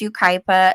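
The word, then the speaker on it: Yucaipa: So it's, you know, a little harder to pronounce if you're not familiar with how to pronounce it. But it's Ukipa, San Bernardino County, Southern California.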